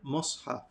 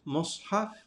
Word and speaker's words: mushaf: Now, the word mushaf itself, Imam al-Nawawi says, there are 3 pronunciations of the word mushaf. There's mushaf, mishaf, and mushaf. So that first vowel on the meme, there's 3 different variations for it.